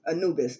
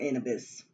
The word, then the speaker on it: Anubis: Anubis, all right, it's different ways, all right, it's Anubis though, it's not Anubis, all right, you have to pronounce their names the right way, because if not, they